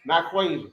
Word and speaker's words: Nyquasia: So my name is so easy. Naquisha. Yeah, it's spelled exactly how it sounds.